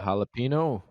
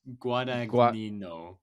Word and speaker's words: Guadagnino: Jalapeno. No, it's Guadagnino. Guadagnino. You gotta say with the accent.